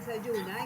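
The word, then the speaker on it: Zajuna: abril con la nueva plataforma sahuna que en arhuaco se pronuncia say yuna y que significa semilla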